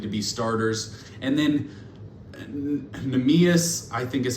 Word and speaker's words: Neemias: And then Neemias, I think is how you say it, Queta.